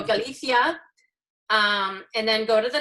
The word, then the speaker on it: Galicia: far north east area is Galicia is how they pronounce it and in Spain the CI is like a census so Galicia and then go to